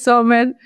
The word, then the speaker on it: Zommer: Hola, hoy estamos con Laura Sommers. ¿Estoy pronunciándolo bien, Laura?